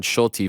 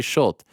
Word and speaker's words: Schulte: They pronounce Shulte, by the way, New York Rick. They don't say Schulte. They pronounce the E.